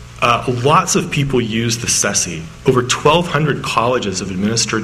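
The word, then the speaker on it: CCSSE: make a whole lot of sense, so people pronounce it SESI.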